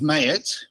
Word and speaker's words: Maai: correct correct pronunciation so my surname is mayor which is the angiz version of a Lebanese name okay which is M